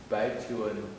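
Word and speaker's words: 白求恩: Bai Chuan.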